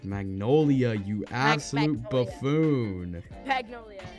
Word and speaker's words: Magnolia: No, it's Magnolia, you absolute Magnolia. buffoon. Magnolia. Oh It was my so, god. dude, that was hard, bro. You don't even know how to pronounce Magnolia. I kept saying Magnolium.